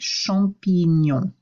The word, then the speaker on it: champignon: Whenever you have the letters GN, GN sounds like NY. So replace that in your mind with NY. Répétez, champignon.